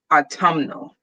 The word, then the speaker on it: autumnal: it was enough autumn you're adding literally one syllable that's it you're just changing the stress on the word instead of autumn it's autumnal yes yes you make the end not silent anymore i don't like it